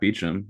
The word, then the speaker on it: Beauchamp: of London, there's a Beauchamp Tower that's pronounced the same way.